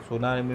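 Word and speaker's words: tsunami: सुनामी में T silent रहता है दोस्तों।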